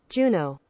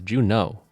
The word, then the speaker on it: Juneau: Pronunciation. Juneau? Oh, it's Juneau? Wait, really? Juno. Oh, no, it's Juneau.